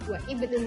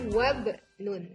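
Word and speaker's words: وابن: Namun jika berada di tengah kata maka ia tidak dibaca. Contohnya tadi wabnun. Jadi tidak wa ibnun lagi, bacanya wabnun.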